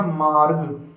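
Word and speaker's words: مارگ: तो ये पढ़ा गया मार्ग।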